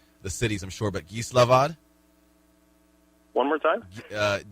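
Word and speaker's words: Gislaved: of the uh the cities i'm sure but geeslavad one more time uh it's spelled g-i-s-l-a-v-e-d slovak something yes okay there you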